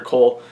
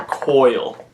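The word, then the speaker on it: Coyle: to answer that question dr. Cole by the way I've been pronouncing her name wrong this entire time it's actually dr. coil who knew so yeah I'm going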